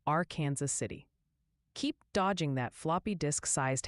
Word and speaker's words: Arkansas City: And a friendly tip for them, viewers say Arkansas City, Kansas is pronounced our Kansas City.